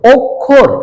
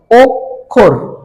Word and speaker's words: অক্ষর: এর মতন ক্ষার ক্ষতি আবার যদি মধ্যখানে থাকে যেমন বললাম শিক্ষিত কি বললাম শিক্ষিত অক্ষর তাইলে খিয় টা কোথায় আছে মধ্যখানে এ কারণে উচ্চারণটা হচ্ছে কার মত ক খ এর মত যেমন দেখো অক্ষর শিক্ষিত তাহলে ক খ